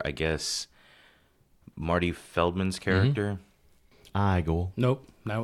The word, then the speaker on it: Igor: Igor. Nope. Now it's pronounced Igor.